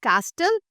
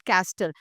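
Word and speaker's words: castle: So when we talk about the first word do यू कॉल इट एज़ कास्टल इट इज़ नॉट कैसल। इट इज़ कासल। कासल बिकॉज़ द टी is silent. Right? कासल।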